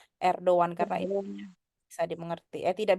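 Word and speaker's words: Erdoğan: apa tapi gak dibaca jadi ini bacanya gimana teman-teman erdan erdan ya bukan Erdogan lagi untuk teman-teman udah ngerti jadi bacanya erdoan karena bisa dimengerti eh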